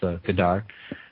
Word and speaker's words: Godard: people identify uh with gdar and I'm going to drop the second D now now that I've heard you pronounce it I'm going to drop the second d as much as I can um um it is